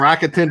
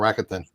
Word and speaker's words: Rakuten: So I got money from Rakuten back, and I got the 10%.